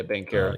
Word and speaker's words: Banchero: How do you say his last name? Bencaro? Yeah, Bankero.